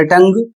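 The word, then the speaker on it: tongue: अगला शब्द है टी ओ एन जी यू ई। इसे पढ़ा जाएगा टंग और इसकी हिंदी होती है जीव।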